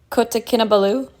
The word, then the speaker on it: Kota Kinabalu: Kota Kinabalu? Yeah. that we're kind of butchering it a little Kodakinabalu. bit. Yeah, It's said quite quick, but that is the correct pronunciation to some extent.